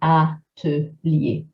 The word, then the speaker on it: atelier: But as all good rules in French, there are some exceptions like the word atelier, where we will pronounce the T fully. So we say atelier for that one.